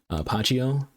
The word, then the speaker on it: Pacheco: But again, the main show, we're trying to do a review for Mayumi Pacheco. That's how you pronounce her last name, the Filipina.